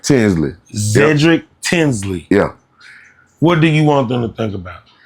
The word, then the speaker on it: Zedrick Tinsley: Zedrick Tinsley.